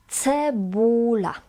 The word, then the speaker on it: cebula: Cebula. C is pronounced as c, never k.